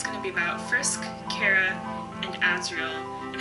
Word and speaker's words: Chara: By the way, no official pronunciations on Chara. I've heard Chara, Chara, and Chara. I'm gonna stick with Chara based on the word character.